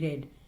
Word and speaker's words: read: Next is RED, red, and READ, red. READ, read, you say, but the past tense of read is pronounced red.